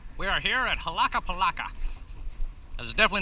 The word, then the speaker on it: Huaca Pucllana: Huaca Pucllana. Ah, Huaca Pucllana. Pucllana. Pucllana. Huaca Pucllana. It's in Miraflores. We're close enough. Yeah. It is actually pronounced Huaca Pucllana.